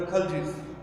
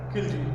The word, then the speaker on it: Khalji: Then students, we will move to the next Sultanate, that is the Khaljis. Students, it is also known as the Khilji. Sometimes some people pronounce it as Khilji.